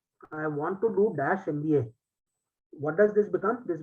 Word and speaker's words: MBA: an MBA why because when we pronounce the term MBA so the sound is of a see the sound is of a right MBA that is why